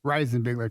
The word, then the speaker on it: Reisenbigler: Reisenbigler, Reisenbigler.